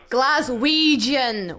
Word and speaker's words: Glaswegian: Glaswegian, Ouija, like Ouija board, Ouija. That's a soft G, Claire, not a hard G.